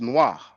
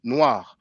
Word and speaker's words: noir: regarde, the R, the French R is like that. Regarde, which means look. So that sound, you have it at the end, noir.